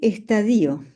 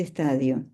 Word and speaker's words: estadio: la palabra estadio, porque la primera vez que yo leí el texto pronuncié estadío, en vez de estadio.